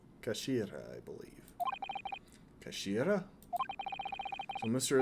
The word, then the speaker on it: Kashira: It's written as head in Japanese, but it's pronounced as kashira. Kashira, I believe.